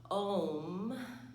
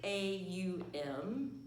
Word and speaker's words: Om: may have heard that sound or syllable of ohm and in modern times it spelled om but it's actually a um here is one of